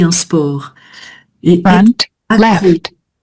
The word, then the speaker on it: accro: Donc accro, sans C, hein. Les crocs, là tu as un C final, mais qu'on prononce pas non plus. Les crocs, les crocs des les animaux. crocs. Et là, être accro, Être accro. voilà, on se termine juste avec un O.